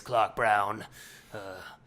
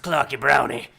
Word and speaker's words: Clarke Brown: refer to me as Clarke Brown. It's spelled with an E on the Clarke and an E on the Brown. But it is not pronounced Clarky Brownie.